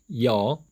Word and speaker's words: ㅕ: 영어식 발음 기호, 그리고 이중 모음의 이름, 여, 그리고 로마자 표기법입니다. 자, 이거 기억나시나요? 앞에 Y가 붙어서 여가 되어 있다는 거 기억하시기 바랍니다.